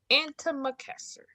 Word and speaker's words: antimacassar: It's spelled ANTI. I almost did it. CASSAR. Antimacassar.